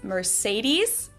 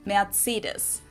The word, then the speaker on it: Mercedes: So Mercedes versus Mercedes. Mercedes. So it's really pretty different. Here's an interesting one because, of course, this name originally comes from Spanish. So what's the authentic pronunciation of this word? Is it the German Mercedes? Is it the Spanish Mercedes?